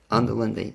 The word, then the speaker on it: Onderlinde: it up your last name i'm your lindy under lindy thank you very much olivia and hopefully we'll